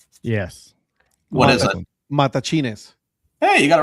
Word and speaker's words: Matachines: Matachines. Hey, you got it right, Patrick. Hey. Matachines. Yes, remember, there's no accent, so you don't say mata or matachines. No, matachines.